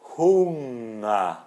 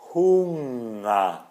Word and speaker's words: Hunger: Por exemplo, o NG em alemão, a gente não pronuncia esse G.